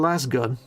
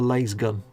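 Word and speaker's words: lasgun: Mayhem says, sorry, but way back in Rogue Trade, it was always Las Gun, but that's just... Are you writing that Las Gun or Lays Gun?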